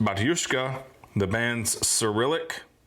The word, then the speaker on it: Batushka: mostly sprouting on the band camp platform uh pronounced batushka the band's cilic name means father and is